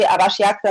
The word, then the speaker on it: आवश्यकता: मिलने के लिए दूर की यात्रा करने की आवश्यकता नहीं है। Нет, вы читаете хорошо, только еще раз повторяйте, пожалуйста. सुंदर जगह के देखना और अच्छे लोगों से मिलने के लिए दूर की यात्रा करने की आवश्यकता नहीं है।